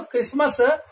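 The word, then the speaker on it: Christmas: तो यहां पर टी क्या है एक साइलेंट लेटर है, ठीक।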